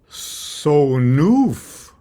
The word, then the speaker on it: sonf: Why don't we sort of tear a page out of more modern Hebrew pronunciation and sort of add a vowel sound, A-E-I-O-U, after these, side-by-side consonants. So instead of ol sanf, we'll say ol sonuf or ol sanufa.